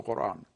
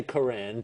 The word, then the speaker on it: Quran: Arabic pronunciation isan and that sound does not exist in English so it now has been changed to K and the glow stop